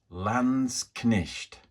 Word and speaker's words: Landsknecht: I think I've now found the correct pronunciation for this, and it is Landsknecht. Landsknecht.